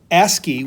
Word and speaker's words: ASCII: on taking text and encoding it in binary asky which is how this is pronounced sounds weird but we pronounce this asy